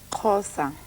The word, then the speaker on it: Xhosa: Xhosa.